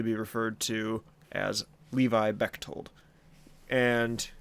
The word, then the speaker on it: Bechtold: But for now on, I will simply be referred to as Levi Bechtold. And it's kind of a weird name by spelling. The H is silent. It's pronounced Bechtold, but I guess in most cases all that really matters is Levi.